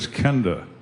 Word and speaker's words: Kenda: says how do you say that I said Kenda hmm well welcome to the greatest show on